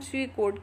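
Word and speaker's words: pseudocode: क्या है ठीक है पीस में साइलेंट है इसको हम स्वी कोड के नाम से जानते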